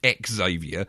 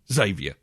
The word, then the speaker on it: Xavier: Charles Xavier, not Charles X Xavier. It hasn't got 2 X's at the front, or X-Xavier. Okay, it's not like that,